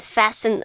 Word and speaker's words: fasten: the verb fastin okay you don't really pronounce the T it's more like fasten and this means to